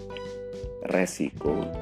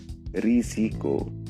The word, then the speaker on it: risiko: adalah putar bukan hutan Lalu bagaimana dengan azas tiga sah zaman resiko dan sistem nah pelafalan yang betul untuk kata-kata itu adalah asas ijazah zaman risiko dan sistem teman-teman penutur bahasa Indonesia